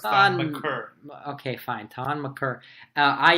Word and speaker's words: Thon Maker: I think he will should learn finally how to say his name, and it's Thon Maker.